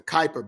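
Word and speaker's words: Kuiper: do so I know it kept saying the Cooper belt no it's the Kyper belt at least that's my understanding how Kyper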